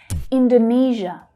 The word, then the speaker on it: Indonesia: Indonesia, Indonesia. So here we've got the third syllable stressed. Indonesia, Nesia, Indonesia. So that's the zh consonant sound, like in vision.